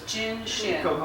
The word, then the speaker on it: Jin Shin: How do you say this? Jinshin, J-I-N. Jinshin.